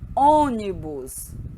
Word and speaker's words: ônibus: um pouco diferenciada olha o acento circunflexo ele indica que a vogal tônica possui timbre fechado observe os exemplos colônia lonia ônibus você então observem né o som é fechado long pronunciem olha a